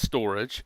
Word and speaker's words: Storj: how you say it storage which is spelled sto RJ but it pronounced storage and Merkle trees yes